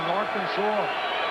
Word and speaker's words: Arkansas: it's like uh uh the River North of Kansas is the AR Kansas rather than the Arkansas you lay that geography